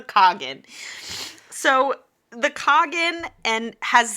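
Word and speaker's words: khagan: the king of antia is called the kogan which like like the dessert like okay uh it become like I don't know like the kugan like I get she wants to Cherry kugan no it's a Cogan so the Cogan and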